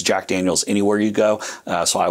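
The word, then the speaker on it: Jack Daniel's: school French, like myself, do not try to pronounce it Jacques Daniels.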